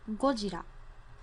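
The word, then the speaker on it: ゴジラ: worldwide which is godzilla godzilla in japanese is pronounced gojira this word is actually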